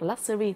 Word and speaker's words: luxury: này vào bởi vì thông thường chúng đọc luxury tức là mình tưởng là s đó, nhưng mà nó sure. So luxury và tính từ đi kèm với nó là có luxurious.